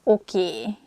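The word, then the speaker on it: oké: okay okay okay okay this word comes from english probably it's easier for hungarian speakers to pronunciate it that way so we just say a sound a at the end so it sounds okie instead of okay and easiest excuse me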